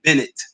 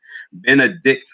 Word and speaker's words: Benedict: I always have to say it like that because a lot of people said Bennett College. I could have sworn that was an all female school. I said not Bennett, Benedict College.